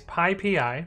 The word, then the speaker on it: PyPI: the first one is pi pi and the reason that it's pi PI is it is the Python package index and this is pi